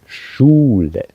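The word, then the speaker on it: Schwein: schine schne schine and this s CH of course is a special sound in German which just pronounced differently than in English like school but here we say shine shine um yeah you have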